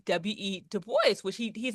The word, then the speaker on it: Du Bois: Du Bois, which he's an Anglo pronunciation of his French last name. And I hear so many people saying Du Bois.